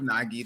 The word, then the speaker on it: vNogi: But I go by the name of Nagi. The V is silent.